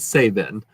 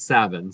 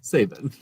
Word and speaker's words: Sabin: I also can't pronounce it Sabin, not Savin. Savin is like something else. Sabin.